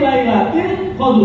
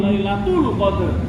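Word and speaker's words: ليلة القدر: Fi Lailatil Qadar. Jangan jadi imam tapi bacanya inna anzalnahu fi Lailatul Qadar.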